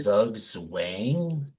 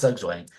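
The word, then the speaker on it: Zugzwang: Doug Wang think Z it shouldn't be Zug Wang that doesn't sound right I don't think it's Zug Wang it's spelled Zug wayang SW moving chest I guess it's got to be yeah I guess it's Z waying anyway when he puts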